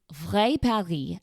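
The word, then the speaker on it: Vrai Paris: The name of the place, you may wonder, is V Perry, and that looks like or is spelled V R AI and then the word Paris afterward, which means real Paris or the real Paris.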